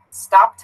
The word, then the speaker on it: stopped: end because it it tasted someone asked to pronounce the word the word stopped stopped has that tea found this one here teeth